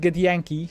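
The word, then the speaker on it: Githyanki: cosmos as a get get Yankee thing is pronounced get Yankee Soldier grounded she must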